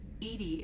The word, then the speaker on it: EDI: why are you named Edie Edie is the phonetic pronunciation of EDI that is an acronym it's so funny when